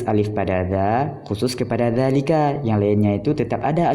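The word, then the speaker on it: ذلك: Ketika huruf dza isyarah, isim isyarah berjumpa dengan lam. Nah, seperti dzalika, dzalikuma, dzalikum. Jadi alifnya ini tidak ditulis, dalam pengucapan tetap ada.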